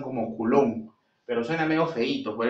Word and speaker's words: coulomb: preuniversitario lo han llamado coulomb por el hecho de leerlo de manera español, coulomb, o también para que no suene feo, porque en realidad su pronunciación es coulomb, ¿no? Pero suena medio feíto, pues, ¿no?